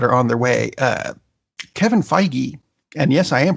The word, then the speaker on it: Feige: other things that are on their way Kevin Feige and yes I am pronouncing it right because I called Marvel and